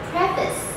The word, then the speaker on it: preface: have this one too it looks like prefaced because you have preh hair and size here but no this word should be pronounced as preface then do you know